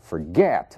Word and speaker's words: forget: admit Forget mesmo caso Forget a sílaba tônica é o get então ele se comporta